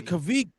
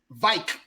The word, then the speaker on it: kveik: Oh, the Kavik. Kavik, but they say it differently though. It's Vike yeast.